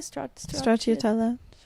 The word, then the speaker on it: Stracciatella: Stracciatella.